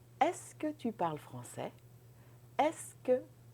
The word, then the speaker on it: est-ce que: That's very easy. You just think est-ce que. Don't write French this way. This is just to help you pronounce this. Est-ce que? Est-ce que tu parles français? And then you go up.